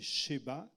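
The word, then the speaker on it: שבא: la reine de Seba soit la reine de Saba carand vous la le prononcez en hébreu c'est cheba euh bon quand c'est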